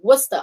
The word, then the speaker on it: Worcester: it's pronounced worcester what's the source but americans pronounce it different so yeah history bobby i am telling him it's worcester i am even though i'm not british i've